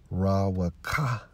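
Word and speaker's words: רוּחַ: All right, for spirit, Strong's H 7307 in the Hebrew, pronounced as Rawaka, all right, which means, let's get to the point, G3, imparting warlike energy and executive and administrative power, okay?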